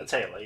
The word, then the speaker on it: Aetheral: How do you pronounce that? Aetheral, yeah.